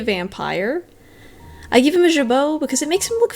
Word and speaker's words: jabot: I give him a jabot because it makes him look fancy. Oh yeah, did you know that they're called jabot?